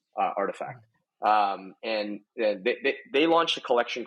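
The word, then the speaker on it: RTFKT: There was a company that I started following pretty early into like the beginning of 2021 called Artifact. It's spelled without any of the vowels, Artifact.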